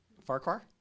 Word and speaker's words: Farquar: Farquar? Farquar. Just like it's spelled.